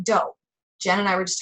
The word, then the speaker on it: Dough: If you guys don't know about it, if you Google it, it's dough, like Play-Doh. Well, I guess Play-Doh is spelled with an H.